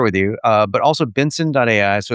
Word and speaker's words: BNSN.ai: Uh but also Benson.ai. So it's it's pronounced like my last name Benson. It's just Benson without the vowels.